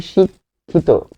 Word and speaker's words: শিক্ষিত: শিক্ষিত যেহেতু আপনি শিক্ষিত বলে থামছেন শিক বলে আপনি থামছেন তাহলে খেয়াল করতে হবে